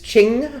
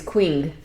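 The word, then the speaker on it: Qing: Um, I use Ching Fibers, which is Q I N G in case anybody's wanting to. I always used to thought think it was Quing.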